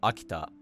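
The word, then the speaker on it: 秋田: A cool distinction that I think is interesting is the pitch for Akita being atamadaka, but turning nakadaka for Akita-ken, as in Akita Prefecture, and turning heiban for Akita-ken, as in Akita breed of dog.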